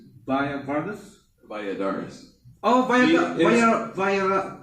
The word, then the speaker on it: Balladares: And uh how do you say your last name again? Via Vadaris. Via Vardis.